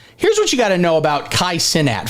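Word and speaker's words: Kai Cenat: what I know about Kai sinat first off that's how his name's pronounced if I'm told any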